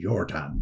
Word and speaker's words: Jordan: And the husband, Fritz Jordan, she was not really actually Jessie Jordan, she was Jessie Jordan, but that's the correct pronunciation. But it's become Anglified, if you like, because she was in Scotland.